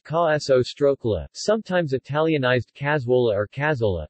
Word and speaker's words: Cassoeula: Cassoeula, pronounced ca-so-stroke-la, sometimes Italianized Cassoeula or Cassoeula, Italian word for